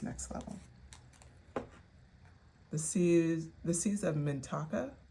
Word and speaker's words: Mintaka: The seas of Mintaka, I believe is the way it's pronounced.